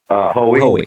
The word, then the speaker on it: Hoey: Uh how how do you pronounce his again? Sorry. How we.